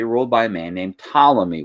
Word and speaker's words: Ptolemy: by a man named ptolemy with that silent p in his name and of course he